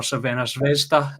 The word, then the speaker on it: Crvena Zvezda: They went away to Red Star Belgrade, or Crvena Zvezda, if you want to go with the Serbian pronunciation, getting the 1-1 draw.